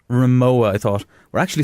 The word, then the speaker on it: Rimowa: the smaller one and I used to call it Rimmer WA right then it was Rimowa I thought we're actually